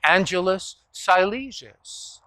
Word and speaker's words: Angelus Silesius: chose the name uh i'll pronounce it in english american way angelus silesius that means the silesian